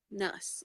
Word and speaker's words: Nuss: little bit shallower okay is it noose is that how you say it uh nuts okay yeah see i'm not